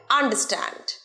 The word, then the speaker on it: আন্ডারস্ট্যান্ড: উচ্চারণ কি হবে? আন্ডারস্ট্যান্ড। আন্ডারস্ট্যান্ড নয়। তোমরা ওয়ার্ডটা হয়তো দেখছো আন্ডারস্ট্যান্ড, এবং অনেকেই তোমরা আমার জানা আছে যে এই ওয়ার্ডটা এইভাবেই উচ্চারণ করো, আন্ডারস্ট্যান্ড। কিন্তু না, বিদেশিদের মতো নেটিভ স্পিকারদের মতো সঠিক প্রোনাউন্সিয়েশন করতে হলে কি বলবে ওয়ার্ডটা? আন্ডারস্ট্যান্ড। আন্ডারস্ট্যান্ড, আন্ডারের রটা উজ্জ্ব রাখবে।